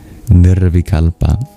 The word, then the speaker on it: nirvikalpa: The word of the verse is thealpa.